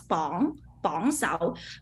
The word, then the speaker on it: bong sao: This one it will pronounce bong sao. Sometimes I will pronounce this one wrong as well because we really don't use this character a lot. Yes, so it yes, will yes. like the racing tone bong sao. It's a second tone, right?